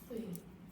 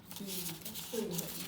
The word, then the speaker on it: Tuyền: So you're My name is Tuyền. The sound like tree, but no system here, just only like this. Tuyền.